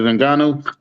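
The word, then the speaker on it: Ngannou: uh ufc heavyweight champion's name how are you pronouncing that francis angano yes he just had surgery on his uh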